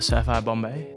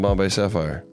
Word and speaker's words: Bombay Sapphire: Should we finish it with Sapphire Bombay? I'm down to finish it with the Sapphire Bombay. Let's finish it with some Bombay Sapphire.